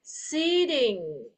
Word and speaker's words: sitting: Nah, saat suku kata yang kedua itu T, kita pronounce-nya itu sebagai D dalam bahasa Indonesia ya. So it turns to be sitting.